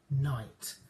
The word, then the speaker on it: knight: sound and the n it starts with a k a kicking k but it's got another name and it's called a silent k so we don't sound that k that k sound it's silent so i knight